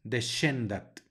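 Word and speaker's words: descendat: palabra se pronuncia Fili luego tenemos una sc que se puede pronunciar como las de en el inglés el sonido como la sh de inglés o también como la pronuncian en Chihuahua los que son de acá de México del norte de ese gran estado del Norte de México ellos dirían Chihuahua se puede pronunciar de esa manera Entonces se pronuncia deshendat también algunos la pronunciarían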